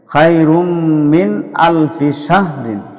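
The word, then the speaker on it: مِنْ أَلْفِ شَهْرٍ: মিন আলফিশাহ সিনহা এখানে এভাবে উচ্চারণ করতে হবে মিন আলফিশাহরিন এখানে উচ্চারণ এভাবে করতে হয় আল ফিশাহ আল ফিশাহ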